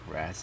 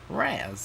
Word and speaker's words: Raz: Chris, I don't think it's pronounced Ras and Fresh. I think it's pronounced Raz and Fresh.